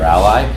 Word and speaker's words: a11y: see this abbreviation A11Y, which some people will pronounce ALI or ally, and that's just a shorthand that people use in the field for accessibility.